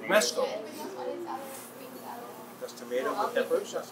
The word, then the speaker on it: Romesco: Romanesco. Romesco. Romesco.